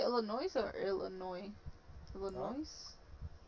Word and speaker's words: Illinois: texas kansas missouri and illinois a little noise do you say illinois or illinois the noise do you pronounce the s in this wow i've been saying it wrong uh i forgot this